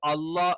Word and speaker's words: الله: അപ്പൊ ഈ അല്ലാ എന്നുള്ളതിന് മുമ്പ് ഒന്നുകിൽ ഫതഹോ അല്ലെങ്കിൽ എന്താണ് ലമ്മോ ആണെങ്കിൽ മാത്രമാണ് നമ്മൾ അല്ലാ എന്ന് ഉച്ചരിക്കുക.